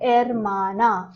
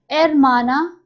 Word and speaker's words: hermana: Hermano and hermana. Hermano, brother. Hermana, sister. The sound of H is silent in Spanish. So it is not hermano or hermana. It is hermano, hermana.